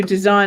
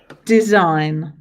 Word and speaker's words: design: Design. 2 syllables, design. Okay, how many sounds? 1, 2, 3, 4, 5 sounds, 6 letters. So the I and the G.